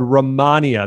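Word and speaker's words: Rehmannia: used in chinese medicine for that was called ramania that's spelled r-e-h-m-a-n-n-i-a and this is great for treating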